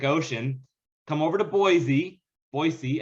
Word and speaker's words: Boise: come over to boise boise as the locals say it and join us for